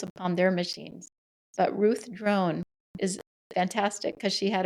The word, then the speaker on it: Drown: her name is Ruth drone and drone is spelled like drown d r o w n and she is one